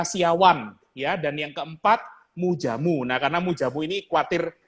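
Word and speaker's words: Moedjamoe: Mujamu ini spellingnya Mujamu. MOE.DJAMOE. Betul ya Bro ya? Ya, ejaan lama, Mujamu.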